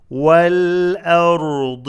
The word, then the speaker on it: والأرض: والأرض ذات والآ not والآ. والآ همزة is light and then را and ضاد are heavy. والأرض ذاتي ذاتي شو ذا كسرة.